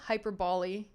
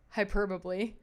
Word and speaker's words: hyperbole: You know, statements of heretical hyperboly hyperbole. Oh my god, I said the wrong I put the wrong infasis on the wrong syllable. Uh, statements of radical, hyperbole, hyperbole, or imaginative expression